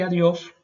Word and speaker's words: adiós: Adiós. Importante que no es adiós, también que la D antes de la I es siempre seca. Hay que subir entonces la lengua atrás de los dientes superiores.